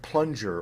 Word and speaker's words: plunger: G like finger or a kind of medium G like plunger or danger now when you get